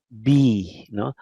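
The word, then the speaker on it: בּ: No, there is a dot. Then it is pronounced as B. Like boy. You know. Okay, so B without a dot, bet without a dot is victory, heavy. B with a dot is the normal B.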